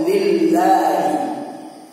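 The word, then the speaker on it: لله: Lam kasroh di situ gunanya untuk membuat lafal Allah itu harus berharokat kasroh juga. Nggak boleh dhammah, nggak boleh fathah, ya, karena ada lam itu, lil. Lamnya namanya lam jar, ya, yang menyebabkan lafal Allah itu harus kasroh.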